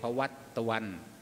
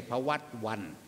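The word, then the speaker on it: ภวตฺวํ: สัพพ โลโค วินัสสะตุ มาเต ภวัต ตวัน ภวัต ตวัน ไม่ ใช่ ภวัต วัน ภวัต ตวัน มตะ นะ เป็น ตัว สะกด แล้ว ก็ เป็น ตัว นำ เพะ ภวัต ตวัน ภวตุ เอา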